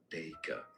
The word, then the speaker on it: Dacre: Generally, in British English, it is said as Dacre. Dacre. Stress on the first syllable or...